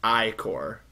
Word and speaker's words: ichor: That's pronounced ichor. I call it icha.